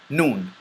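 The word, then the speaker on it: ن: from the tongue and this letter is pronounced by or characterized by the lips remaining open and the tongue remains behind your teeth teeth but the sound just like the meme and the sound and air comes from your nasal passage so it's like thison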